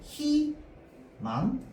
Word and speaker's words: 희망: 자, 그래서 3번에 자음으로 시작하는 의는 이 로만 발음한다는 건 의로 발음하면 안 된다는 거야. 맞죠? 이만 발음이 가능하다는 거죠. 자, 그래서 대표적으로 뭐 예를 들어서 우리가 뭐 희망 이런 단어가 있으면 얘는 발음할 때 어떻게 발음해야 돼? 희망 이렇게 발음해야 됩니다.